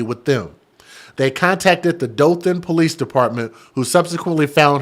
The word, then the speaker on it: Dothan: Dothan.